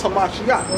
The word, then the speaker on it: Hamashiach: And it says Christ there, but we know it's Hamashiach, man, all right? That's the correct way to say it, the anointed king, okay?